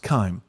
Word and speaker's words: chyme: mixture is called chyme it's an interesting way to spell it but it's pronounced chyme and it's moved through